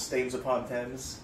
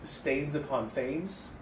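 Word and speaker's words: Staines-upon-Thames: the now current title, so it's Stains Upon Thames. But a lot of people who don't know England very well, I think they would say Stains Upon Thames, because that's how Thames is spelled.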